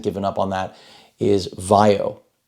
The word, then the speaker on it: VAIO: up on that is vaio which ironically rhymes with IO and they make sure